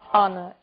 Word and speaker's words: honor: O som do H. Pronunciado desde a garganta, como em hotel, e mudo em 3 casos. Our, honest, honor.